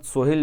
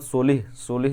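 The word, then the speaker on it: Solih: और मोहम्मद सोहिल जो है, मोहम्मद सोलिह जो है, ये स्पेलिंग देख लीजिएगा इनकी, सोहिल नहीं लिखा है, सोलिह लिखा है, LIH है, ठीक है, सोलिह, मोहम्मद सोलिह जो है ये पीएम है मालदीव्स के।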